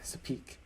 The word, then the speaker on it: Sopheak: cousin Sapani, SOPHANNY, and one of my besties, Sapik, SOPHEAK. My name is pronounced!